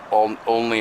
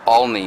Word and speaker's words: Olney: When I said earlier it was the Only house, or what, it's OLNEY is what it is. They call it OLNEY is the way it's spelled.